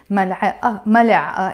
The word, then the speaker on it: ملعقة: But in this case, because the word has a T مربوطة, ملعقة, it has a T مربوطة, but I don't pronounce it.